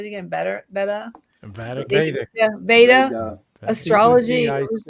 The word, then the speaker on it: Vedic: Beta. Is it how do you say it again? Beta. Vedic.